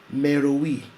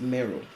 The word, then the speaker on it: Meroe: at another nubian kingdom meruwi also sometimes pronounced mero napata the capital city